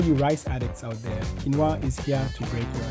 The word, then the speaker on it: quinoa: For goodness sake, stop butchering the pronunciation. Quinoa.